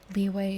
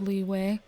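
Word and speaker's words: Liyue: harbor the capital of the nation of leeway leeway is spelled l i y u e leeway currently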